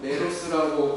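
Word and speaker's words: μέρος: 상관은 헬라어로 메로스라고 발음을 하는데 이것은 여러 가지 단어로 번역이 됩니다.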